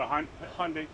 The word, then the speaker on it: Hyundai: Yeah, it's a Hyundai. Hyundai. Okay, you got it. There we go. I'm pronouncing it wrong this whole time.